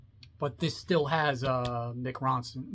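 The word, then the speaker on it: Mick Ronson: this still has uh mck Ronson not MC Ronson I can't say his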